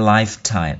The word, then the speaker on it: lifetime: Thì cái câu này đọc là you're a winner for a lifetime. Lifetime, nó có âm phở ở giữa nhé.